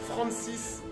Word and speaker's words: Francis: terminologie du renseignement anglo-saxon donc ça s'écrit comme France mais c'est la prononciation anglaise avec un s à la fin donc c'est Francis comme comme Francis en français d'accord dites-vous que